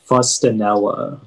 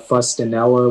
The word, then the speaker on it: fustanella: uh your word is fustanella um can you give me the language of origin uh fustonella is an italian word may i have any alternate pronunciations um it can be pronounced fustanella or fustanella may have the definition